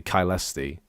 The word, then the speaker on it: Caelesti: It's a C. It's not a S. It's a C. I'm still pronouncing it wrong. Um, it's it's it is actually Kylesi.